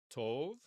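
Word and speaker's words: טוב: The vav, though, is it a consonant or is it a vowel? Here, it has to be a vowel letter because tet does not have a vowel sign with it. So therefore, this is cholam vav, and it is a vowel.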